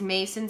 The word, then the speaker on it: Macin: for you to memorize this face this is Mason it's spelled MA CIN he is six feet four